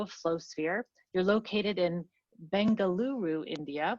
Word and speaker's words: Bengaluru: flowsphere you're located in bengaluru india which i learned today is a different pronunciation than bangalore what people are might be used to but the new name is bengaluru you are also an